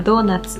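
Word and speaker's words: ドーナツ: 菓子で、ドーナツですね。日本ではドーナツって発音します。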